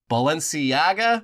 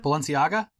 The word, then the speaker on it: Balenciaga: from including his favorite uh which I never pronounced correctly but Balenciaga Balenciaga yeah Balenciaga uh yeah also I'm sure well